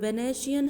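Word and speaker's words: Venetian: वेनेशियन है ये pronunciation, और ये cross of gold and joule of admirable workmanship.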